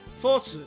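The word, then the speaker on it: フォース: But in Japanese, fourth would be pronounced Fosu, because they don't have a TH. So, sounds like Force.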